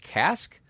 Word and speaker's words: casque: Is it pronounced casque?